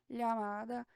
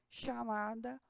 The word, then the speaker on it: llamada: Em espanhol, ela vai escrever llamada e pode ser pronunciada llamada, chamada ou llamada. Existem 3 variações assim de sotaques. Eu geralmente uso llamada para pronunciar esse LL, mas, por exemplo, aqui no Uruguai e na Argentina o pessoal usa o chi, aí fica chamada, chúvia, chave, chegar, fica até mais parecido com o português,